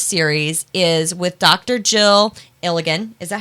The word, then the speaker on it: Ilagan: Jill Ilagan. Is that how you pronounce it? Ilagan, sorry. Ilagan.